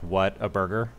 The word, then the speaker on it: Whataburger: It's spelled water, but it's it's like what a burger, Whataburger.